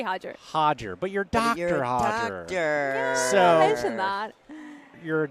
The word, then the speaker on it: Hajir: So, please say your name because I already forgot the pronunciation. No, it's Hajger. Hajger. Yeah, simply Hajger. Hajger. But you're Dr. Hodger.